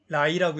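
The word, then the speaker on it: 来: 근데 중국어는요, 오다라는 단어, L-A-I, 라이라고 읽고요.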